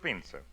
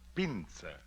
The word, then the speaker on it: Pinza: Is Is that the way you pronounce it? That is right. Pinser. How's that again? E Z I Otto. Pinser. P as in Peter. I N Z Aio Pinser.